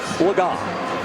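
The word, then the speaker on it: Legas: to you by cameo cooper laga that is the correct pronunciation as we corrected ourselves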